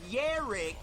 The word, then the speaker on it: Jarek: over to Rich's channel, Rich says Yarek, even though it's spelled with a J, then an A, then an R, then an E, then a K, and then there's a little dot and a fucking Z, okay?